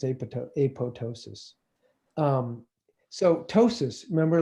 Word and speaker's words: apoptosis: through a process called apoptosis, or it's spelled apoptosis, but it's not pronounced that way. I promise you it's apoptosis, and I can prove it.